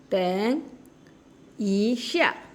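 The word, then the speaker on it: 等一下: আছে একটু অপেক্ষা করুন ট্যাং দ এবং ত দ এবং ত এর মাঝামাঝি ট্যাং ট্যাং ইশা ইশা ট্যাং ইশা ট্যাং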